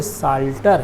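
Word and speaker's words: psalter: आगे नंबर 21 देखिए, देखने से लगता है कि प्लास्टर जैसा लिखने में पढ़ने में आ रहा है, लेकिन नहीं, P साइलेंट है, ये साल्टर है।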